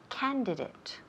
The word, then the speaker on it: candidate: Okay, termina en A-T-E. Okay, but se pronuncia como si fuera I-T.